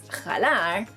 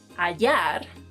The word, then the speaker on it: hallar: Another verb is, if you're either thinking or you've been pronouncing this verb as jalar, that's wrong because the H is silent in Spanish, and if you pronounce it in this word, you'll be changing the meaning entirely.